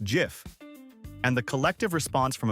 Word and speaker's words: GIF: Is it GIF with a hard G or GIF like the peanut butter brand?